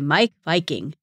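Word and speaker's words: Meik Wiking: how to create and remember happy Moments by Mike Viking and that is spelled m-e-i-k w-i-k-i-n-g he wrote a couple of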